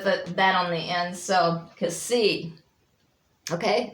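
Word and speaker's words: ξι: So Kasi, okay, it's pronounced as in box, not like X as an X-ray, so it's box.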